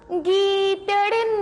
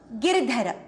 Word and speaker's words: गिरधर: मीरा के प्रभु गीदड़ ना गिर. गीदड़ नहीं, गिरधर.